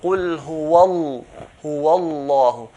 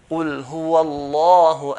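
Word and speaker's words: هو الله: So Qul huwallahu, Qul huwallahu, okay? Qul huwallahu, not Qul huwallahu. Huwallahu, I'm pronouncing lam in a light manner. Lam will be heavy manner.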